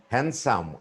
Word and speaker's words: handsome: but it's s often handsome D is not pronounced handkerchief use when it's